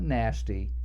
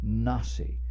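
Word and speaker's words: נשיא: letters next to the word nasi not nasty nah see which is the Hebrew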